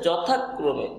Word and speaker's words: যথাক্রমে: আর এই ম, তাহলে যথা যথাক্রমে, যথাক্রমে উচ্চারণটা হচ্ছে যথাক্রমে, যথাক্রমে।